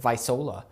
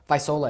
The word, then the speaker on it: Visola: forgot to ask you how to pronounce it visola visola everyone that's that's vice versa